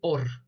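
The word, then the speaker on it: אור: dos palabras en el hebreo luz se dice or y se escribe con alef con vav y con res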